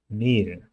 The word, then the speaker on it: Mehl: Mehl is a long E, so if you add H to something, it becomes longer.